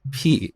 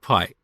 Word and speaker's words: pi: instead of pi but that's how we learned this back in iran we pronounce it as p and i think greek